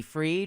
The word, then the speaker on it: Fried: give out free weed Rhymes Mickey freed we yeah freed weed um yeah and I think it's pretty it's spelled like fried right yeah it is